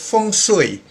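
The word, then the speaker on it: feng shui: also the belief in fung soi it's pronounced as fung sui it's a complex belief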